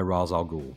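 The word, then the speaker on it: Ra's: Assassins yeah yeah but they're always run by razag or in the comics and the series and he's razing he's spelled Raz and he's called Raz in Nolan's movies he's R everywhere else and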